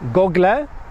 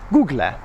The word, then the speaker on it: Google: up pronounce it either gogledd or Googler but the last two letters are not pronounced Allah it's just Google